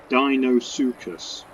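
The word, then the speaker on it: Deinosuchus: It's going to be male, and it's pronounced Dinosuchus.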